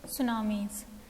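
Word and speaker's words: tsunami: होता है herbal shampoo सुनामी pronoun test सूनामी में वैसे तो स्पेलिंग के हिसाब से टीम फर्स्ट लेटर है बट एस्ट्रो ना उन्हें इस सुनामी सुनामी आज टर्न ओन एक्सपेक्टेड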